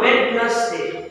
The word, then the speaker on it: Wednesday: It is W E D N E S D A Y. D is silent there, so you pronounce it as Wednesday, not Wednesday.